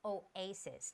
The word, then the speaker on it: Oasis: of the osis okay the word is oasis not osis Oasis yes okay and one